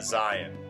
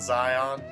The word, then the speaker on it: Zion: First up was Zion. And apparently that's actually how you pronounce it, not Zion.